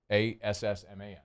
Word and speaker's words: Asman: How do you spell it? ASSMAN.